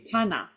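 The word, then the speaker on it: 棚: be not good yes so the da part of Donna is actually an example of rendaku so it's actually Tana um what's this folded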